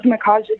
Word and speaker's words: Micajah: Hello, I am one of the co-founders of Black Lives Matter UNLV. and a volunteer with Mass Liberation Project. My name is spelled Micajah.